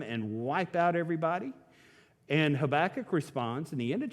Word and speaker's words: Habakkuk: got a prophet named habakkuk not tobacco habakkuk depending on how you say it in your accent sometimes when you're talking about habakkuk they think you're talking about smoking habakkuk cries out to